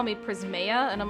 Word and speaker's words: Prismaeya: guys weren't already aware, the way I say it is Prismaeya. But that's not necessarily correct, because I don't really give a shit. And so a lot of times people will call me Prismaeya, and I'm like, that's fine.